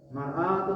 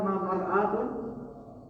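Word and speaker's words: مرآة: Kalau mar'atun apa? Mar'atun cermin. Beda ya. Kalimatnya bersama, yang kata-katanya bersama. Bacanya beda. Mar'atun.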